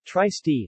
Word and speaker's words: Trieste: Trieste Italian pronunciation try ste listen Slovene t rst